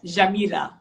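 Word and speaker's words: جميلة: Jamila.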